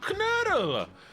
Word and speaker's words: Knödel: Oh, Knödel!